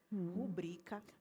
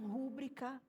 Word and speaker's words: rubrica: Sabe uma palavra também que as pessoas erram muito vi rubrica. Rubrica. As pessoas falam rúbrica, só que não tem acento no ru.